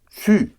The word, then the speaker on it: su: Savoir becomes one syllable. Su.